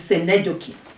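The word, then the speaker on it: synecdoche: Then another one, next is senedoki. Senedoki is pronounced that way and spelled that way because it has Greek origin.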